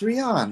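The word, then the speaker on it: Rian: They should like change the saying if they spell it different. You have a good point with that. Right. Um, yeah, right. It's Rion, man.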